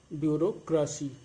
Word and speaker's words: bureaucracy: इसका उच्चारण होगा ब्यूरोक्रेसी.